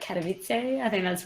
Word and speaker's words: Katowice: I was like, everyone, I'm going to Katowice. No. So what is it, Katowice? Katowice, pretty much. Well, as I also kept saying, like, Katowice, I think that's wrong, so...